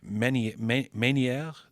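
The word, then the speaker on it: Ménière: No, that's the nicest way anyone's ever said it's Menieres. Meniere. Okay, but well, no, it's but got no, a accent aigu, so I thought it might.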